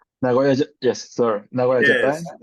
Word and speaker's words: Nagoya: You were born in, I will always try to pronounce it correctly, Nagoya, correct? Nagoya, yes, sir.